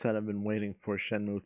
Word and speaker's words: Shenmue: one featuring like him unable to pronounce shenmue he called it shem way and then he was